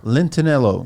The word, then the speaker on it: Lentinello: How do you pronounce the last name again? Lentinello.